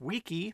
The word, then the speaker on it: wiki: Howard Cunningham, when he applied the Hawaiian word pronounced wiki, meaning quick, to his bit of software, the WikiWeb.